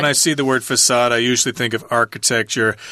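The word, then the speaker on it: façade: face in French and it's got that weird letter C there with a little diacritical mark at the bottom there that's why the C is pronounced as an S facade the glittering facade now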